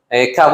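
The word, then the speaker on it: CAVOK: para esta región que se llama Cab Okay se escribe como caboc okay kab Y eso significa en inglés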